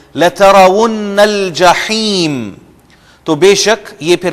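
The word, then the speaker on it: الجحيم: لَتَرَوُنَّ الْجَحِيمَ، لَتَرَوُنَّ الْجَحِيمَ، ہا کو آپ انڈر لائن کر لیں، ہم جہیم کہتے ہیں جو کہ غلط تلفظ ہے، لَتَرَوُنَّ الْجَحِيمَ، تو بے شک یہ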